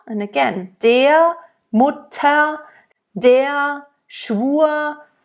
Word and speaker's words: Schwur: Mutter, and again, der, Mutter, der, Schwur, it almost is like a slight A at the end that you add to the vowel that precedes the R.